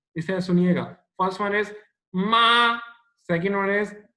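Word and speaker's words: 马: तो this is different, ये pronounce different तरीके से होता है, लाइक पहले आप टोन को नीचे लेके जाओगे आ की, फिर आप इसे ऊपर लेके आओगे मा, ठीक है, और इतना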